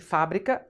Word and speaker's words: fábrica: Porque fábrica é proparoxítona, tem que ter acento. Fabrica é paroxítona terminada em A, não se acentua.